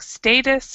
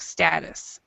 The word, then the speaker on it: status: pronunciation was perfect but there's another pronunciation for that uh Facebook status so Facebook status or Facebook status okay status St status